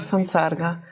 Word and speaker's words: Sansarga: Für sich genommen Sam in Kombination mit S ändert es sich in San. Die Aussprache ändert sich zu San, Sansarga.